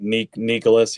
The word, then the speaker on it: Nyckoles: point um you saw Nicole's Harbor am I saying that right I always ask if I'm saying it right like Nicholas yeah Nicholas Nicholas Harbor um very unique